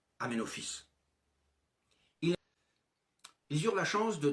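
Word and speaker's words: Aménophis: En 1936 et encore actuellement, le nom d'Amenofice fils de Hou s'écrit en hiéroglyphe Ametep mais il se prononce Amenofice.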